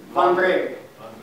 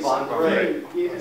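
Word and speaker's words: Wandré: It would be Vandre. Vandre. Vandre. So the stress is on the second syllable.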